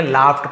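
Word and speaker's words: laughed: the young man लाफ्ड, इसे लॉग्ड नहीं पढ़ेंगे, लाफ्ड पढ़ेंगे, फ उच्चारण होता है, लाउडली यानी उसने क्या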